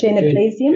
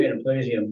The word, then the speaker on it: Genoplesium: Genoplesium. Genoplesium.